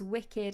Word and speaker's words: WKD: W KD pronounced as wicked is a brand of alco produced by beverage brands.